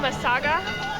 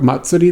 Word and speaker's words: Matsuri: at with the procession did you just screw up Matsuri that bad masaga was a masaga I assumed I was